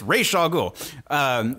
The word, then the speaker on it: Ra's al Ghul: It's Ra's al Ghul. You can't do a Ra's al Ghul movie without having Talia.